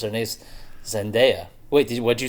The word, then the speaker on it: Zendaya: you're correct according to her on YouTube she pronounces her niece zendaya wait what'd you say oh yeah I've already